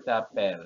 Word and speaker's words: t'appelles: Tetapi secara pengucapan sama. Je m'appelle dengan tu t'appelles ya, tidak ada tu t'appelles, tidak ada ya, S-nya nggak dibaca.